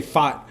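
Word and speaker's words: Pfaadt: however say his name, Fott. I think somebody just told me ignore the P and just say Fott.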